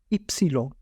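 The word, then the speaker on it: ipsilon: है इक्स एक्स इक्स और यह वाय है इसे इटालियन में कहेंगे इप्सिलोन एप्सन मैं आपको यही सजेस्ट करूंगा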